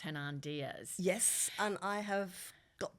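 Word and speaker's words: Hernan Diaz: last year trust by I think it's pronounced hernand Diaz yes and I have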